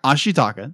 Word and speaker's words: Ashitaka: air quotes um like heels how do you pronounce the Zan ashaka Ashi taka thank you I am terrible with names as